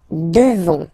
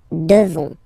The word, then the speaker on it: devons: Nous devons. Okay? Classic ending O-N-S for nous. Okay? You just pronounce this on, O-N, this nasal, okay? And then the S, final S, is not pronounced. Nous devons.